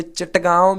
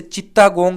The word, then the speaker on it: चटगांव: इसके बाद राजा अपने देसी मुर्गियों में चटगांव भी आती है, जिसे चित्तागोंग भी कहते हैं। कुछ प्रोनाउंसिएशन में चटगांव पढ़ते हैं।